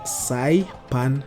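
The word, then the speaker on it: Nxai Pan: of five uh that's sai pan national park i don't know if i pronounced that or butchered it it's nxai then pan as in frying pan oh saipan national park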